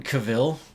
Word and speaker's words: Cavill: It was like when Cavill... Yeah, no one could pronounce his name right for and then years. he finally said it was Cavill.